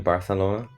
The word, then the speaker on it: Barcelona: nathan what's up how's barcelona are you in barcelona that is how they say it huh with like a weird lispy th they also say ibiza